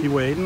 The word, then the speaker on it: Keewaydin: Keewaydin, that's right. We went to Keewaydin, and oh my gosh, as you come around